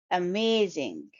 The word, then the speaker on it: amazing: first one is s this is a three syllable word I have underlined the syllables with green line and the stress is on the second syllable as shown by Arrow amazing so you to stress the second syllable may may amazing this device